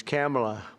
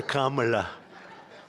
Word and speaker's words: Kamala: It's Cam, right? Cam as opposed to Com.